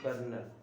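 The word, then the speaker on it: colonel: वो एक कर्नल है कर्नल की spelling C ओ एल ओ एन ई एल लिखते हैं कर्नल नेक्स्ट सेंटेंस है मेंबर्स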